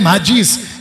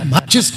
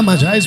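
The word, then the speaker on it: Magi: और जी जिसको कहते हैं माजीस, यानी माचिस नहीं, माजीज, माजी माजी माजा या माजाइज भी बोलते हैं उसको कुछ प्रोनाउंसिएशन में।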